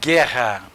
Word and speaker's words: guerra: Eu falei com vocês na palavra guerra, o GU não é pronunciado.